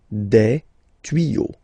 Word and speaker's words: tuyaux: Des tuyaux. Same rule, you don't pronounce it. Des tuyaux.